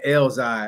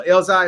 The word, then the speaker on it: Elzai: So, that's how you say that nigga name Elzi. I would But they send me that nigga name and I'm like, who the hell is Eli or Elzi? Okay. Okay. So, Elzai is how you say it.